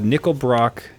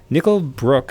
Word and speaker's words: Nickel Brook: should really consider yeah I'm opening up uh nickel Brock nickel Brook sorry I should think I think it's pronounced nickel Brook Brewing zap sour IPA I've